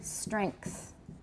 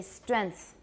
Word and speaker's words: strength: native speakers pronounce this strength but i don't because that's an ng as far as i'm concerned it really should be velar so strength to me